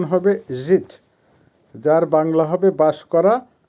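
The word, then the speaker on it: жить: পিসাচ বাংলা হবে লেখা বা রাইট ভার্ব জিত উচ্চারণ হবে জিত যার বাংলা হবে বাস করা বা ইংলিশে হবে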